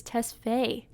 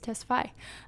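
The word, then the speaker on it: Tesfai: wrong this whole time i thought it was tesfay but it's testify um who plays kelly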